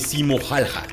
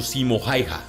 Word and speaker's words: Simo Häyhä: Este no es otro más que Simo Häyhä, también pronunciado Simo Häyhä, pero más conocido por su escalofriante apodo, la Muerte Blanca.